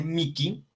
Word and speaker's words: mihi: Después, la H se pronuncia como una K. Entonces, se dice Miki y se dice Nikil.